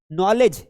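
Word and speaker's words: knowledge: नॉलेज, अब ये देखो आपका वर्ड आ गया कि सर ये नॉलेज में के क्यों साइलेंट है? क्योंकि ये एन के पहले आ रहा है इसलिए साइलेंट है।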